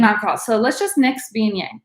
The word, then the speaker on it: Viognier: Viognier, that's how that's pronounced, Viognier.